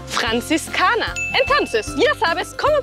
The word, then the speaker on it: Franziskaner: Franziskaner. La primera R gutural. La Z fuerte. Y la R al final como una A. Franziskaner.